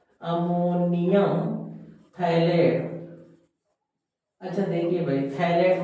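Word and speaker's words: phthalate: अच्छा देखिए भाई थैलेट में पीसाइलेंट रहता है।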